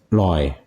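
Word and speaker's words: อร่อย: And did you know that this word is a mispronunciation of how it should be pronounced? Really? Yeah, and if you go to the south, they actually pronounce it the way it should be pronounced. Originally, it was roi. It's a ra or ra with the throat closed immediately, so it's loi.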